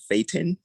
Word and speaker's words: thetan: I called it a Thetan because of that's theta. correct. Thetan is correct.